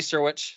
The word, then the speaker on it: Syrewicze: Flo thanks um so my name is sirwich so the last name sounds a lot simpler than how it's spelled so um but snow I I appreciate